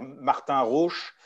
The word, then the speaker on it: Martin Rauch: Donc, c'est Martin Rohr, je le prononce à l'allemande, mais avec l'accent français, ça fait Martin Rauch, donc Rauch à la fin.